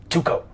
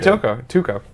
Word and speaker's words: Tuco: Isn't that weird that you hear someone say a word and you go to say it and you say it wrong? Tuco? Yeah, well, I just said that, but it's like I just heard you say Tuco. Why did my brain go Toko?